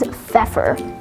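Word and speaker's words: feoffor: once again today's word of the day is feffer spelled f-e-o-f-f-o-r fever today's word of the day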